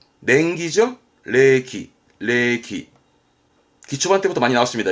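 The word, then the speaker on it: 冷気: 레기, 레기.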